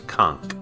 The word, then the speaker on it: Conch: would be pronounced k it's actually a hard k sound it's Kunk this area here is